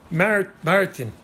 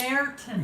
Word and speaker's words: Merton: You were getting closer with the pronouncing of Martin. Martin. It's Merton. Merton. Did I say that right?